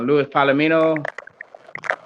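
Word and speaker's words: Luis Palomino: Louis Palomino. Did I get that right, Paul? Yeah, Yeah, okay. Louis Palomino, you're correct.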